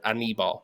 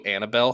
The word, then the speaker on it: Anibal: It's Anibal. People just say it like animal. They say Annibal, like Hannibal.